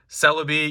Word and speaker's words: Celebi: got togepi snorlax again celebi yes that's how you pronounce it like celebrity and you can see